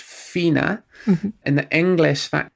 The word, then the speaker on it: Fiona: it's very clear that that's supposed to be pronounced Fina.